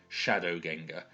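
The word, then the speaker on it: sceadugenga: is shadow Ginga now the s and the C together is pronounced like a sh in modern English so shap shadow Ganga so it really literally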